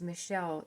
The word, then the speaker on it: Michel: do remember his name it looks like Michael but is pronounced Michelle you know how in France